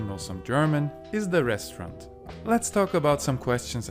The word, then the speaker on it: Restaurant: Das Restaurant. And this last one is pronounced the French way, restaurant.